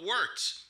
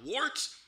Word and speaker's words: Wort: It is the Wort. Not wart, not fort, not short. The Wort.